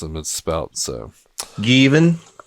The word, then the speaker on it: Gavin: So Given. When I first got to America, it was pronounced Kevin, Jevin, Devin, Javin, Jeff. Jeff.